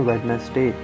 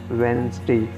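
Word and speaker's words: Wednesday: तो पंच करते हैं वेडनेसडे इसको वेडनेसडे ने बोलेंगे इसको लेंगे van stage day after ट्यूजडे वेनसडे 24 inch एक नेक्स्ट कर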